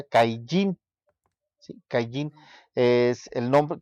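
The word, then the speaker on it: קַיִן: Este, Caín en hebreo se pronuncia Caillín, ¿sí?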